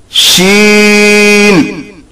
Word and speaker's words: ش: This is read as sheen. When there are 3 dots on the seen, it is known as sheen. While pronouncing it, the breath gets spread in the mouth buccal cavity. This is also called mutafashshiyah in tajweed intonation. This also emanates from the middle part of the tongue.